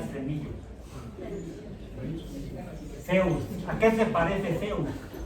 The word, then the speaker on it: Zeus: Zeus porus de hecho Z griega no se pronuncia como la esp mexicano sino más parecido a la z española así la con la lengua en los dientes como si tuviera cillo Zeus A qué se parece